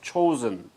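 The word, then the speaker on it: Chosin: yeah chosen okay but that is the japanese pronunciation of chinese character and the actual korean pronunciation of that chinese character is zhang jin but japanese they pronounce it as chosen that's why it's a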